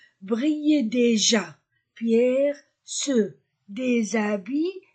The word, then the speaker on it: brillent: l'Opéra des lumières brillent e nt ne se prononce pas Brill déjà pierre ce des